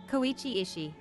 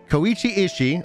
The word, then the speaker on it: Koichi Ishii: is there a right click option how to pronounce read aloud section koichi ishii koichi ishii oh thank you internet listen here and and